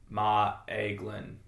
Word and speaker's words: Maeglin: Like, you think about Maeglin, Maeglin would be how if you try to pronounce both the A and the E.